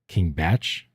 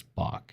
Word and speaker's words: Bach: one guy like King Batch. Like, no, that's not how you pronounce it. It's Bach. It's like the composer, Bach, Bacchus.